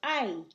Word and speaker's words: hay: were just H-A, well, since our H is always silent in Spanish, this would just be A. But looky, we've added this Y at the end. Y in Spanish is pronounced just like the E, A-E-I-O-U, so it goes ay, ay, ay, ay, ¿verdad?